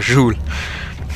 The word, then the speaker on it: Joel: Ja, ich dachte, jemand hätte geschrien, das war aber Joel. Joel. Joel. Joel, so wird er ausgesprochen. Joel. Ich hab vor kurzem gemerkt, dass ich es öfters falsch ausspreche.